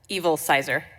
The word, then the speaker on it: Evilsizer: I didn't know how to say it how evilsizer evilsizer um I thank you um Madam chair